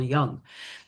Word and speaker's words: Jung: Yeah, so Carl Jung, and I think that's close to the appropriate pronunciation, although I'm sure I'm going to say Young because it's just easier, right? It's like how we were all brought up to say it, Carl Jung.